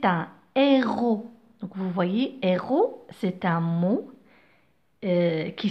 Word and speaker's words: héros: Donc vous voyez, héros, c'est un mot qui s'écrit avec S à la fin. D'accord? Le S ne se prononce pas. C'est une lettre muette. C'est un S muet.